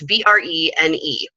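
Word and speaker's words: Brené: It's Brene Brown.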